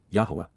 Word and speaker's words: Yahweh: to La for yah Yahweh the proper pronunciation of the name of eloah God as directed in his